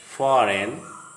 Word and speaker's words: foreign: If a word starts with GN or the GN is the part of the same syllable, the G is silent, as in the following words coming to your screen: sign, not, gnome, foreign, design.